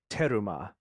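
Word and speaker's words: terumah: translation issue so the a heave offering is teruma is how it's said in Hebrew okay teruma and teruma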